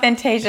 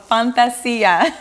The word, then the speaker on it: Fantazzia: I said it's not Fantasia, it's called Fantazzia. Fantazzia. Fantazzia, but we spell it with two Z's.